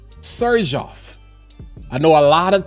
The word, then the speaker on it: Xerjoff: We're going to be talking about Sergeof, not zerof. Serjof. I know a lot of times we just been pronouncing it like that X is like xylophone, but I remember um